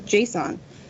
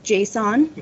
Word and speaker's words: JSON: going to be in Json and it's Json not Json in case anybody was wondering but you've got strings